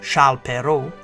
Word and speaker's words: Charles Perrault: This edition of Timeline presents Charles Perrault, Mother Goose Nursery Rhymes and Brothers Grimm Fairy Tales. The birth of French author Charles Perrault, pronounced in French as Charles Perrault, is situated on the timeline in the 17th century in 1628.